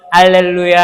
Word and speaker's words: 할렐루야: 루 발음은 입술이 나와야 됩니다. 루. 뽀뽀. 뽀뽀 해 보셨어요? 입술 이렇게 하면서 루가 돼야 돼요. 루야. 자, 해 볼게요. 입술 발음에 주의해서 할렐루야.